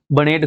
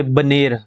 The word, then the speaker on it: बनेर: Next question है, बनेड़ खड्ड किसकी सहायक नदी है? अब यहाँ पे बनेर, सॉरी मैंने बनेड़ प्रोनाउंस किया, तो बनेर खड्ड किसकी सहायक नदी है?